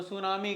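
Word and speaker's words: tsunami: इस वर्ड को वो सुनामी कह रहे हैं। लेकिन यहां पे टी भी लगा हुआ है। तो टी क्या है? यह एक साइलेंट वर्ड साइलेंट लेटर है इस वर्ड में।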